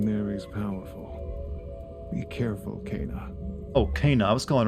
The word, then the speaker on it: Kena: house the corruption there is powerful be careful cana okay now i was calling her akina i will never remember how pronounced her name properly now cut off the